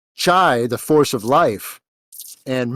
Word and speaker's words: chi: As Chinese chi or ki. Yeah, Which chi. is also It's CHE or CHI. Sorry. Yeah, Yeah, chi. and it So also can be pronounced key, and that yep.